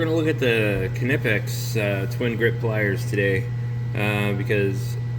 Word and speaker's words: Knipex: If you're not familiar with Knipex, it's spelled like that, and Knipex is pronounced exactly like that, Knipex, and there are two